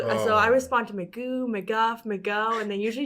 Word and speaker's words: McGough: And today we have McGough. Is that how you pronounce the last name?